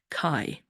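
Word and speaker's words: καί: Greek word it's angelized this is how it's pronounced Kai beneath it you can see the word Kai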